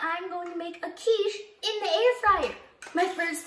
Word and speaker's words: quiche: be trying something different i called it a ketchup but my mom told me the correct way to say it which was quiche some of you got an